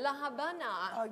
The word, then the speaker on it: La Habana: la havana you know it's written havana but we pronounce it it's a small city compared to the others it's very well known as well la habana the capital of the